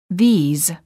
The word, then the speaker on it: these: these is plural and is pronounced with a long vowel e and a z sound this these I like this book